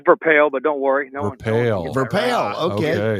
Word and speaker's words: Verpaele: It's uh it's Verale, but don't worry, no one Vel.